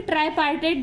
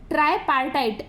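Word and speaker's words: tripartite: बायपार्टेट या फिर ट्राईपार्टेट जो प्लेसेंटा है, ठीक है, ये थोड़ा सा देखो ट्राईपार्टाइट ऐसे, मतलब थोड़ा प्रोनाउंसिएशन में डिफिकल्ट जाता है, ठीक है।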